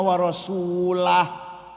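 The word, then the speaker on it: وَرَسُولُهُ: Yang benar bacanya innallaha barium minal musyrikina rasulah. Warasah.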